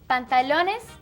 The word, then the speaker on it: pantalones: Pantalones sounds like the word in English, but longer. Pantalones.